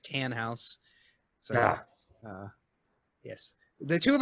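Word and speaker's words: Tannhaus: house wrong he says you call a Tanenhaus like Biff Tannen but it's just tan house so yes the two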